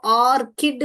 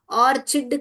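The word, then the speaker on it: orchid: यहां पे इसको ऑर्किड बोलते हैं बेटा और चिड नहीं बोलते हैं। बहुत लोग यहां पे भी गलती करते हैं। यह फूल को ऑर्चिड करके बोलते हैं। यह ऑर्चिड नहीं है बेटा ऑर्किड है।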